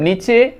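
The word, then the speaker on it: knee: Right direction मतलब नीचे, 1, 2, 3। इसी तरह नी में के साइलेंट है दोस्तों यहां पर, तो के का हम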